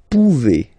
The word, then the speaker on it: pouvez: Then vous pouvez. Okay? Classic ending as well for the vous form. A Z like that. Okay? Remember you pronounce it E.